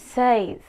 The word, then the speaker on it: seis: Number six is seis. Seis. Says, S-E-I-S, says.